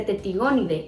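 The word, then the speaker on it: Tettigoniidae: Pero algo muy importante es saber cómo se pronuncia, porque se escribe Tetigonidae, pero se dice Tetigonidae. La A no se pronuncia, nunca, jamás. Es un error de pronunciación, sí, es un error de pronunciación.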